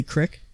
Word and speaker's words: creek: I use the word Creek for sewer did you say Crick we're from Missouri you should say Crick it well regardless regardless